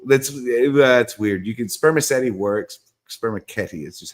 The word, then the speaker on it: spermaceti: And sorry, my pronunciation is eternally classical Latin, so it's going to be it's a spermaceti. Yeah, that's what it is in classical. That's weird. You can spermaceti works.